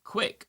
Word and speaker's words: Gwick: Uh, Gwick uh says Gwick is pronounced like quick.